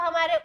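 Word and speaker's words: Holmes: ध्यान से देखेंगे इसको हमारे 1930 में आर्थर होम ने दिया था इनका नाम क्या था इनका नाम क्या था आर्थर होम आर्थर आर्थर हो ठीक है ये होब एल क्या है साइलेंट है तो इसको किसने दिया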